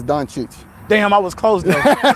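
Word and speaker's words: Dončić: first name Luka H so the proper way to say it is donich damn I was close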